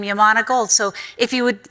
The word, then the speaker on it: Yamana: And I said, it's Yamana gold. He says, no, it's Yamana gold. And then proceeded to tell me about the history of the name Yamana gold.